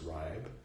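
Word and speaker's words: Reib: e-i-e-i e i my name r e i b Reeb should be pronounced ribe so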